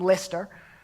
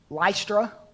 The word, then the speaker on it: Lystra: and the people from Lyster Lystra or Lystra depending if you're from the north you pronounce that lie struck that's probably correct I'm a redneck so I'll pronounce at Lystra but leister we call